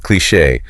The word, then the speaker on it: cliché: And let's spell that word you used, cliché, C-L-I-C-H-E, with an accent on the E. Ah, cliché.